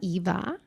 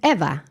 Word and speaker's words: Eva: So, my name is not Eva. My name is Eva, pronounced in Spanish or if you're from the east coast, like forever and ever.